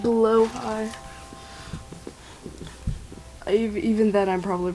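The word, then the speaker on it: Blåhaj: I got Blaha with me or Bologna cuz I've named him that. And also technically you're not technically it's not pronounced blah. It's pronounced blowhai.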